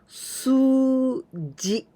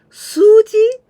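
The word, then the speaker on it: すうじ: This is a longer sound with this u. Suji. This is ji. Suji, it means numbers.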